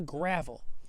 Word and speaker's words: gravel: This is all gravel in the road. Gravel is a non-countable word. All right, I have a lot of gravel, much gravel. Gravel. It's a short A sound, right?